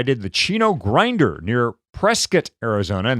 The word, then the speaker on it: Prescott: the Chino grinder near Prescot Arizona and that's how they say it there by the way not Prescott but Prescot Arizona and you did the